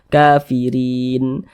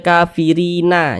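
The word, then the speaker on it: الكافرين: tepat di huruf nun kita baca kafirin Jangan dibaca kafirina jangan tapi dibaca kafirin Kenapa begitu Jadi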